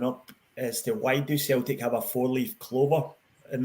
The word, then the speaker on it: Celtic: was actually our a Celtic cross which if you tuned in last week is with uh not with a soft C it's with a hard C gov so um well done yeah so Celtic cross was a white